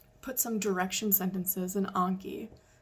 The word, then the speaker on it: Anki: Put some direction sentences in Anki. Some people that pronounce it Anki. I don't, Anki, whatever.